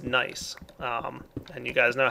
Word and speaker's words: gneiss: And you'll see that this isn't regular cobblestone, it's gneiss cobblestone. I think that's pronounced nice.